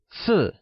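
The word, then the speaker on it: 四: However, make sure to not gift anything in sets of four, as the number four, si, sounds similar to the Mandarin word for death, si.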